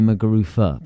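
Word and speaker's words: Muguruza: zed but it's actually mcua because I think it's Spanish and that's how we pronounce it upset Serena Williams to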